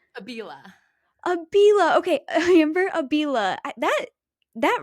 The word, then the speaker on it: Abila: How do you pronounce your last name? Abila.